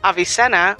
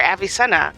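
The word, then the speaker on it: Avicenna: later editor me that this name is in fact pronounced avisena or avisa which is still a latinized form of his Arab name ibin Cena he lived from 980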